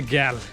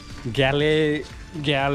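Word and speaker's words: Galle: यहाँ से मुझे लगभग 40 किलोमीटर दूर जाना है, जो कि प्लेस है गैल. गैल ऐसा प्रोनाउंसिएशन होता है उसका. लोकल्स गॉल बोलते हैं एंड बाकी लोग गैले बोलते हैं.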